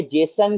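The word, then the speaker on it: JSON: जसोन। इसको बोलते हैं जसन। जसन इसकी बेसिकली प्रोनाउंसिएशन है या इसको कन्वेंशनली बोला जाता है जसन।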